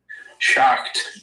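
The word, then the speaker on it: Schacht: Shocked. Okay, if you can spell that for me.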